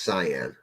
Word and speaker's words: cayenne: know let me see Cayenne is pronounced cyan okay oh see again